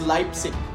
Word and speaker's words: Leipzig: at the University of Leipzig which is actually pronounced as Leipzig this has been the landmark event so the